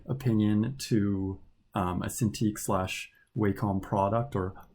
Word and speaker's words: Wacom: least in my opinion to a Cintiq slash Wacom product or Wacom if you go by that pronunciation I would recommend dropping it down to